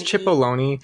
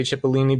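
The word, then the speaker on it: Cipollone: house counsel pat h i don't know if i'm saying his name right i think i've said it wrong every time it's c-i-p-o-l-l-o i think it's chip oloni but i like that we say chipolini because i just picture him as a tiny onion ah yeah so i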